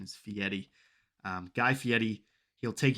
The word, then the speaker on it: Fieri: fieri uh he's actually i think the actual pronunciation is fieri um guy fieri he'll take you to flavor